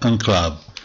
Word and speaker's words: enclave: Precisiamo subito che è una parola francese, che quindi dovrebbe essere pronunciata enclave, con una A nasale che assorbe il suono delle prime due lettere. In realtà è accettata e diffusa la pronuncia italiana, e io continuerò a pronunciarla così.